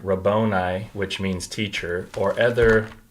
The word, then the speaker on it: Rabboni: That's how it's pronounced, Rabboni.